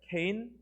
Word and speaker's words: Cain: 자, 일요일, 가인과 아벨, 케인, 이건 가인을 케인이라고 읽고요.